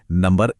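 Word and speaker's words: ニ: चलिए इसी मोमेंटम को बनाए रखते हैं और देखते हैं कि लिस्ट में अगला नंबर कौन सा है।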